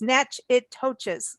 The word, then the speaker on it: Natchitoches: to spell that because it just isn't what you all think unless you've been there it's n-a-t-c-h-i-t-o-c-h-e-s so it's natch it touches like little natchy toes so welcome uh kelly